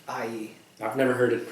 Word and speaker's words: Ai: I mean, I think I read AI most of the time, but I'm like, I know it's not AI. What? It's IE.